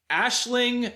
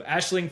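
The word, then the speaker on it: Aisling: But I Googled it and it's pronounced Ashling Francos. So Ashling Franchos.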